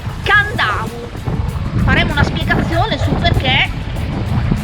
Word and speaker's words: Kadavu: Si scrive Cadavu con la K all'inizio e si pronuncia Candau.